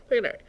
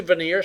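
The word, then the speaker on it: Vigenère: That first word. Vigenary. It's actually veneer cipher, but it looks like Vigenary.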